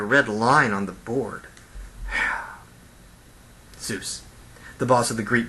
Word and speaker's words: Zeus: pronounce the Greek word Zeus, would pronounce Zeus as Zhu. You see, they would drop off the S part of the word. They'd soften the Z sound to a J sound.